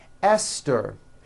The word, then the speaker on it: Esther: like to point out although these next words and names are spelled with a t H they are pronounced as if they were spelled with a normal T TT like that and